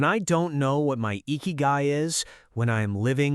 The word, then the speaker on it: ikigai: They had what the Japanese call Ikigai, pronounced Ikigai.